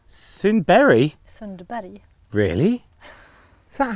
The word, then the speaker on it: Sundberg: Hey folks, so today we're here with Anja Sundberg. Sundberg? Sundberg. Really? Is that how you say it? Anja Sundberg. Wow. Yeah. Everyone says Anja Sundberg. Oh, but No? it's Berg in Swedish.